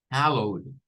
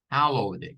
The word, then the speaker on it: hallowed: La primera es como separar esta primera parte, es una sílaba, la H, la E y la double L, con hell, con el hell. Luego la O y la W se va a unir a la D, como saltándose la E, la I se salta, no se pronuncia, ¿verdad? Y nos queda owed, owed, hallowed, hallowed. Esta quizás sería la pronunciación más común, para decir santificado, hallowed, hallowed.